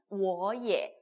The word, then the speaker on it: 也: Y랑 E가 합쳐졌어요. 어떻게 읽을까요? 어떻게 읽지? 이거 어야? 뭐야? 이렇게 헷갈리실 수가 있는데, 그죠? 예라고 읽습니다. 꼭 기억을 해주세요. 헷갈리지 마세요. 그죠? Y랑 E랑 붙었습니다. 예라고 읽으시면 돼요.